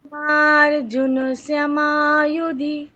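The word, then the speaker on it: भीमार्जुनसमा युधि: भीमार्जुन समायुधि হ্যাঁ, এখানে দীর্ঘবর্ণ কোনটা কোনটা আছে বলুন তো। भी মা তারপর মা তারপর আবার মা হ্যাঁ, সুতরাং ওই কটাতেই দীর্ঘ উচ্চারণ, বাকি কোথাও দীর্ঘ নয়, বাকি সব কটাতে হ্রস্ব। তাহলে ভীমার্জুন সমায়ুধি, দেখুন আমি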